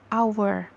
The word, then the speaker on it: hour: adalah and our nah walaupun our ini tulisannya hours tapi kita bacanya our karena dibacanya our jadinya